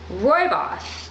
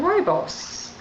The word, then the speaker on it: Rooibos: I'm enjoying so much Roy boss I believe that's how you pronounce it r-o-o-i-b-o-f um Rooibos and my trouble was